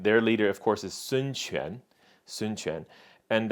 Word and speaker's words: Sun Quan: But Sun Quan is how you say this word.